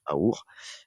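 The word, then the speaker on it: אור: Or veut dire lumière en hébreu donc et qui se prononce àour.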